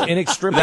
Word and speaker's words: inextricably: You don't expect him to say inextricably. Twice in a row. It's inextricably That's interesting.